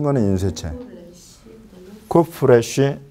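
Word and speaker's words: קוף: 그래서 이게 쿠프인데 이거는 그야말로 우리 키역 발음이에요. 키역 발음. 그래서 쿠프. 그래서 이건 아무 부담 없이 K 발음을, 키역 발음을 그대로 하시면 돼요. 근데 이 녀석은 이 K 발음을 여기 목에서부터 끌어내야 돼요.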